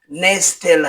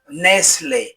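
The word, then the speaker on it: nestle: যার অর্থ হল কুস্তি এনই এসটি এলই এর উচ্চারণ নেসতেল হবে না এর উচ্চারণ হবে নেসলে যার অর্থ হল বাসা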